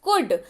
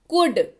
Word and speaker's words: could: बढ़ते हैं आगे, अगला शब्द है हमारे पास कुड, COULD, कुड। ध्यान रखें उच्चारण के वक्त एल का उच्चारण नहीं होगा और इसका उच्चारण सीधे सीधे होगा कुड। ध्यान से सुनिए उच्चारण, कुड।